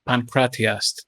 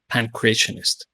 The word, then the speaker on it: pankratiast: for a practitioner of the sport, which is pankratiast instead of pancrationist.